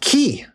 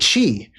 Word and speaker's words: chi: This is the Greek letter called key. This is literally how you pronounce that. You could also sayq chi, which is why people